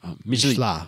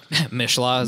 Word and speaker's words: Michelin: You don't pronounce Michelin. The N, remember? Michelin. We went over Michelin.